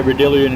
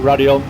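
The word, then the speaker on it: Raidillon: I always want to say Radillion because that's how it's spelled, but Radion.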